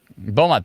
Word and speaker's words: Beaumont: There's maybe some hail down here near, is it Beaumont? Beaumont. I can't pronounce anything properly, but. Yeah, that's correct. Beaumont, thank you.